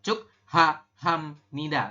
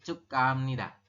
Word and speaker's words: 축하합니다: Bukan 축하합니다, tapi 축하합니다. Nah, gitu ya. Untuk penyebutannya adalah 축하합니다.